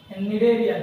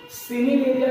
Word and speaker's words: Cnidaria: Phylum जिसका नाम है निडेरिया। ठीक है, ध्यान देना यहाँ पर सी जो है वो साइलेंट है ना, सिनिडेरिया कभी मत कहना, यहाँ पर सी साइलेंट है, दिस इज निडेरिया।